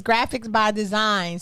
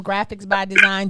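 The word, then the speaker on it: Graphix By Dzine: so definitely follow him graphics by design g wait it's spelled differently g r a p h i x like x-ray by design by b-y-d-z i n e so graphics by design and if you want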